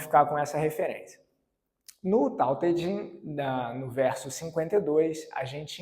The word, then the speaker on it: Tao Te Ching: Alguns atribuem a esse texto, propriamente, o surgimento do taoísmo, que é o livro Tao Te Ching, também traduzido com uma outra pronúncia, Tao Te Ching, talvez essa seja até mais popular, escrito por Lao Tzu, ou o nome mais popular, Lao Tse.